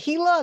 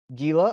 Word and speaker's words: Gila: we've got the giant is it Gila do you pronounce it Gila monster it is Hilo right you know I I